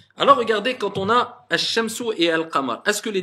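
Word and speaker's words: الشمس: Mais comment ça se fait qu'il y en a un, on ne prononce pas Alif wal Lam, on passe directement, on dit Ash, Ash-Shamsu.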